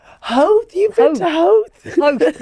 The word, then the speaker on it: Howth: And he's like, you pronounce it how Howth?